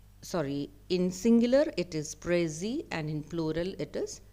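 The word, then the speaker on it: précis: a word French word so it is pronounced without pronouncing the last consonant letter s so the pronunciation I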